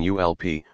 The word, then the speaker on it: ULP: by its acronym ulp they pronounced it as in gulp one of the group's members said he remembered comic book characters saying ulp when they encountered something